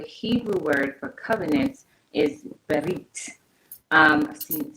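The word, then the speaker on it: ברית: And so the Hebrew word for covenant is berit. I've seen it spelled like a few different ways when it's transliterated.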